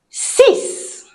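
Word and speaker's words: six: Sis, sis, sis. Mhm. Sis like sis. Sis. Because in French I sounds e and we don't do the for this one.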